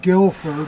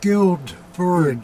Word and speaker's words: Guildford: Somebody wrote, "It's not Guilford, it's Guildford."